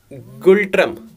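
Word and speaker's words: Ngultrum: वहीं पे बात करते हैं भूटान की राजधानी है थिम्पू, यहाँ की करेंसी है गुल्ट्रम। क्या है? गुल्ट्रम या गुल्ट्रम, न साइलेंट है, गुल्ट्रम यहाँ की मुद्रा है।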